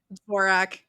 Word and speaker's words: Dvorak: Is that how you pronounce it? Dvorak? Is that Dvorak? Dvorak.